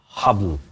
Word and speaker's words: Haball: to the name so it's Arabic actually it's pronounced as habble and you have to you can't say Bal